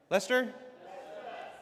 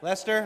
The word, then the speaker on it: Leicester: Lester. Lester.